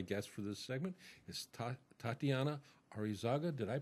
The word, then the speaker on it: Tatianna Areizaga: My guest for this segment is Tatianna Areizaga. Did I pronounce that right?